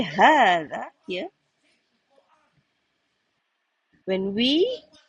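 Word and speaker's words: هذا: Do you realize that we when we say "haatha" here? When we pronounce "haatha" we pronounce as alif in between. Do you realize that? But it's not written.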